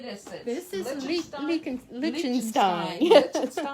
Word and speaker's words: Lichtenstein: This is Lichtenstein. Lichtenstein.